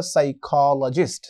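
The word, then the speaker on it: psychologist: আমাদের পরবর্তী ওয়ার্ডটি হলো বন্ধুরা সাইকোলজিস্ট। সাইকোলজিস্ট, সাইকোলজি থেকে সাইকোলজিস্ট, এই যে সাইকোলজি, এর মধ্যে আমরা এস দিয়ে উচ্চারণ করছি কিন্তু শুরুতে বা প্রথমে একটি পি রয়েছে।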